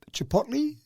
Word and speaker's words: Chipotle: Now, we don't have any stores in Australia, so I'm not even sure how to pronounce it. Chipotle? Yeah, Chipotle, yeah.